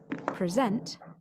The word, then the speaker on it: present: the stressed syllable changes present as a verb meaning to give a talk has the stress on the second syllable the noun presentation has